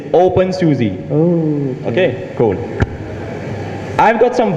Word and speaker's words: openSUSE: you say something bad i'm just going to pronounce it for you okay it's open susie okay cool i've got